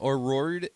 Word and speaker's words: O'Riordan: Cranberry singer, oh God, I can't pronounce her name. O'Riordan.